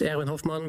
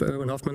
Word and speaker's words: Erwin Hofman: My name is, in Dutch, it's pronounced Erwin Hofman, but I'm cool with Erwin Hofman or whatever.